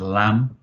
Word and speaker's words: lamb: for example at the end of the word lamb Cordo lamb lamb you wouldn't say lamb you